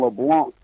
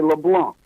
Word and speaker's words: Leblanc: about it, it's Frogman Leblanc. The C is silent, so you got to say Leblanc, not LeBlanc.